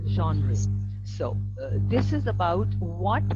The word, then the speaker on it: genre: the pronunciation also and this is a french word actually so genre so this is about